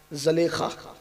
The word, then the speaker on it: زلیخا: زلیخا، اصل تلفظ زلیخا ہے لیکن کچھ لوگوں کو تھوڑا سا بار پڑتا ہے اس لیے زلیخا ہی کہتا ہوں۔ زلیخا یوسف کے لیے